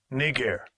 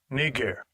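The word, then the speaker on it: Νίγερ: __ ] Strong's G 3526 knee gear knee gear all right that's the proper pronunciation of that word it was not a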